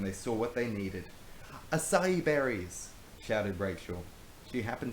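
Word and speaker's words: açaí: It's pronounced acai, not acai.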